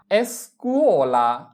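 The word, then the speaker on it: scuola: এরপরে এস্কুয়ালা এস্কুয়ালা এস্কুয়ালা এস এর উচ্চারণ এস চি উ কু ও কুও এল আ লা এস্কুওলা এস্কুওলা মানে স্কুল।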